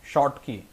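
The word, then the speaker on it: Schottky: की डिफेक्ट 122 है शॉर्ट की सी साइलेंट होता है इंच और के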